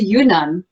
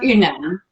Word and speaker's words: Yunnan: I even say it the wrong way. I say Yunnan. It should be Yunnan, right?